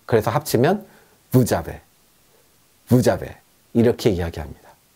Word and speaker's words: vous avez: 그래서 부즈라고 하고 그냥 부라고 하는데 뒤에 아베랑 붙을 때는 자베가 됩니다. 그래서 합치면 부자베, 부자베 이렇게 이야기합니다.